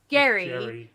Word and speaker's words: Gerry: And then over time it became gerrymander because we pronounce it Jerry, not Gary, but his name was Gary.